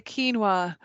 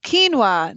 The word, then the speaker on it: quinoa: addition there and then let's talk about the quinoa or the quino depending on how you choose I'm just kidding quinoa is not the right way to say it quinoa that is it's an old grain I guess